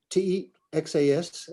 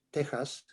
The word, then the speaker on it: Texas: Texas, T-E-X-A-S, the X in Spanish is pronounced like a J. Texas, like an H, Texas, is the name of the Caddo Indians of eastern Texas.